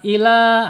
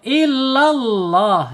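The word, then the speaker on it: إلا الله: Kemudian ta'buduna illa ya, ditasydidkan huruf lam dulu ya, jangan ila, awas. Nah, maknanya nanti beda. Kalau illallah ya, kalau kita tasydidkan ke huruf lam ya, artinya kecuali Allah. Tapi kalau bacanya ilallah, apa artinya? Ke Allah ya, beda.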